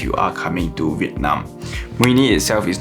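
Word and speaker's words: Mũi Né: So this next city is very hard for me to pronounce, but here is Rose pronouncing it. Mui Ne.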